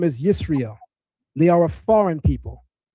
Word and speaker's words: Israel: There's no Maserites in 1205 BC and the Egyptians are pronouncing it Israel, not Yasher Allah.